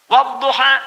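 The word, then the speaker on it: والضحى: Bacanya A. Saya pernah bacakan pada orang Afrika yang biasa baca pakai E. Dia pakai E, saya baca pakai A.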